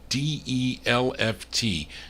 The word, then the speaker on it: Delft: in Denver Colorado on the delft or the d e l f t delft that's kiss that's how you pronounce it but anyway this is a I'm